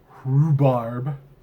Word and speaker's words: rhubarb: Rhubarb. Because there's an H that no one pronounced, so it's rhubarb.